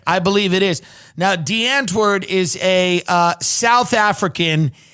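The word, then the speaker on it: Die Antwoord: the stories i read was about this band de antard is that how you pronounce it that's right i believe it is now de antwerd is a uh south african hip-hop duo and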